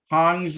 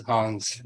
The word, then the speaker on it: Hongs: Hammett, you'll be soon, but Hongs is first. Wow, you pronounced that right. That was good. Most people will not pronounce that right. I appreciate that. Yeah, it is Hongs.